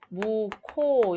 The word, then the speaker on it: 묵호: 일어납니다 자 그 다음에 묵호 라고 해야지 무고 라고 하면 안됩니다 기업과 쉬우실 만나서 모코 이렇게 발음의 는 자음 추격이 일어나죠